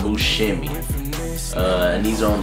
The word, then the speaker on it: Buscemi: favorite designer shoe John buim and you know I found out not too long ago I've been pronouncing uh Bimi wrong actually instead of Bui is Bimi so yeah John bu shimy uh and these are